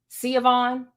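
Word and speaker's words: Siohvaughn: so long and difficult see Yvonne oh yeah that is how you say it see Yvonne but it's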